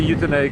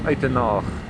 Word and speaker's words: Uitenhage: I say Uitenhage, of course, that is the English pronunciation, but of course, in the Afrikaans tongue, it is known as Eitenhage.